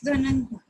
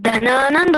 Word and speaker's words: धननंद: नो नो, धननंदा, धननंदा।